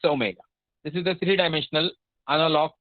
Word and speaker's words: omega: This is the d omega can also be pronounced in a different fashion. If you use internet, you will understand there are a lot of pronunciation which exists, but that is a more predominant omega, so I say it's omega.